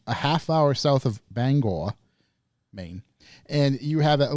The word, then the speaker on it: Bangor: I live a half hour south of Bangor, Maine, and you have at least one listener in this neck of the woods.